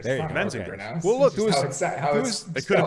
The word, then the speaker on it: The Menzingers: whose name I'm not going to attempt to pronounce because I don't know it. It's the Menzingers. There you go. Menzingers.